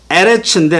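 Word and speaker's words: ארץ: 이게 뭐지 했을 때 자, 여기 에레츠인데 하에레츠 the earth라고 썼습니다. the earth. 요걸 눌러요. 요거 누르면 뭐가 나온다고요? 원어 성경 그 안에 사전이 딱 뜬다고요. 이렇게 earth, land. 에레츠인데 에레츠 이렇게 발음한다고요. 에레츠 이렇게 발음한다고요.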